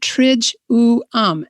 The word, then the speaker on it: Triduum: about this time of year saying the word triduum and then she spells it out trij oo um and when i read that i realized i've been mispronouncing it my whole life tritone so and